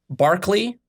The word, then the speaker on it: Berkeley: don't like K uh Barkley which is spelled Berkeley which is what UC